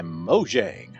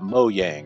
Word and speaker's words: Mojang: developed and published by Mojang where is that mo yang I have no idea how that's pronounced I'm gonna say mojang cuz it's kind of like mojo mojo jojo um when the game